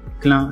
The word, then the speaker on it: Clain: Clin, ça s'écrit C-L-A-I-N, et tu pourras relever mon challenge.